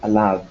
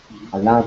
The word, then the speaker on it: עליו: When you have, like the word alav, when you have yud and then vav, most of the time the yud is silent. This is why it doesn't have any punctuation marks, any vowels, nothing is coming with it. Yeah, it's alav. We just don't say it.